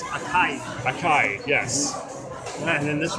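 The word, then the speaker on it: açaí: Blueberry and acai. I don't know how to pronounce that. It's a gourmet lollipop. I think it's acai.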